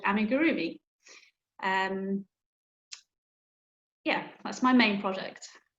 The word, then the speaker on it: amigurumi: I have to ask, how do you say it? Amigurumi? It's amigurumi. Amigurumi.